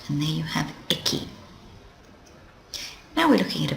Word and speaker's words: 駅: That's pronounced eki, eki, and there it is.